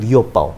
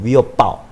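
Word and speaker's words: 余额宝: 또 하나는 위어바오. 위가 뭐냐면 나머지 여자, 남을 여자를 중발음으로 위라고 읽고 금액 액자를 어를 읽어요. 그래서 위어바오.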